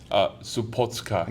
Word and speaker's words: Supotsuka: Supotsuka. Supotsuka. I was like the Hakosuka versus Hakosuka. It's like it's Hakosuka. So now you're saying it right. So now everybody say it again. Supotsuka.